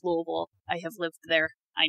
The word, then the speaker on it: Louisville: tuberculosis in the US damn and it is pronounced Lille I have lived there I know so yeah yeah yeah it's pronounced Lille for those of you who don't know it looks like it's spelled Lewisville that is not it or Louisville it's it's